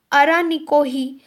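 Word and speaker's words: Araniko: और एक already highway है अरानिको, यहाँ पे I will write the spelling, इनकी प्रोनंसिएशन थोड़ी अजीब सी है, अरानोकी मे बी, ओके आप इसको कैसे भी प्रोनाउंस कीजिए, अरानोकी हाईवे है, इसको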